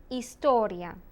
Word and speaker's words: historia: heart ginte soft aceh the h is completely silent the only time it